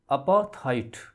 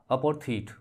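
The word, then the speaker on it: apartheid: अपार्थाइड या अपार्थीट, both pronunciations are correct.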